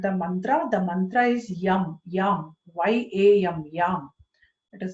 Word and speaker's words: Yam: The mantra is YAM, YAM, Y-A-M, YAM. It is written Y-A-M, but when we pronounce, we are pronouncing it as YAM.